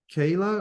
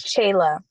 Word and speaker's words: Shayla: Is it Kayla or? It's Shayla. Shayla.